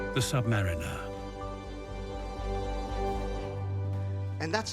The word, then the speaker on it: Submariner: Ever new light on our world the Submariner and that's how you pronounce the Submariner next we will explore what